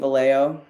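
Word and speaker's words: Vallejo: Justine, you finally stopped pronouncing Valleo. Seriously, anybody out here still pronouncing the J?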